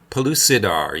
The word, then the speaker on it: Pellucidar: Pellucidar, yeah. It's a... Pellucidar. Okay, so it's a soft C. C. And you have the yeah. Soft in the key of soft.